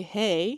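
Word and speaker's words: hei: one to say hi you just say hey although it's not spelled h e y it's spelled h e i so to say hi to somebody you say hey hey and to make it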